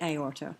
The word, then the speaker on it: aorta: You do have words like aorta, but if you look at aorta, what you have is the A followed by the O, but two distinct syllables, A or ta.